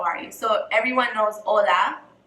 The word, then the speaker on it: hola: forgot hello how are you so everyone knows hola hola the H is silent in hello and then we have how